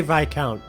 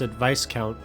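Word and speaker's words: viscount: the ruling Lord here they do say VI count I don't know why I was thinking they pronounced advice count huh okay my daughter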